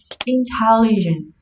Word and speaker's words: intelligent: Intelligent. Intelligent trọng âm sẽ rơi vào âm tiết thứ hai.